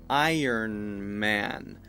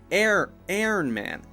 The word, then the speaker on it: Iron Man: of Iron Man now another common mistake for for this one is air Iron Man Iron Man so if I say air man my my mouth is way too wide it looks like an a air that's incorrect right it should be I so it goes from